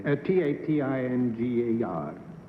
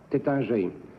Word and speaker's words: Taittinger: How do you pronounce it correctly? Tatingar. Number 3, how do you pronounce that correctly? Taittinger.